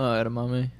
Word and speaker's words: edamame: Oh, edamame?